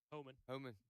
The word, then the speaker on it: Homan: Is that how you pronounce it? Homan or Homan? Yeah, Homan. Todd Homan.